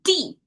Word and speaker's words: 的: now, I feel like the fallen tone probably is the most forceful. It's most emphatic tone. So it's D. It has a certain, when you pronounce it, you kind of have to make some efforts to make the sound out.